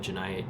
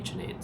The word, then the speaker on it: Janed: Some some people pronounce it differently. Some people call it Janade, some people call it Janite, some people I don't know. It's up to their own interpretation. But my parents call me Janade.